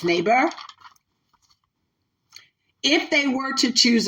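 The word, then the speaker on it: Nabers: Some people pronounce it Naber, but it's Naber.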